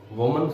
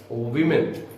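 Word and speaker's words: women: वुमन plural singular होता है, उसका प्लूरल क्या होता है, वीमेन. ये वुमन नहीं होता, इट्स वीमेन. हाउ to pronounce this word, वीमेन.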